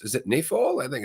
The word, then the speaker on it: Schiphol: Is me not being able to fucking pronounce, is it Nafol? I think it's something like that. Anyway, the point is, yes. Schiphol. Thank you. Schiphol.